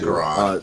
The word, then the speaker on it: Quran: You don't have to pronounce it like that, Justin. Just say Quran.